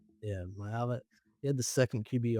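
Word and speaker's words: Maiava: Yeah, Jayden Myiava. Yeah, Myiava.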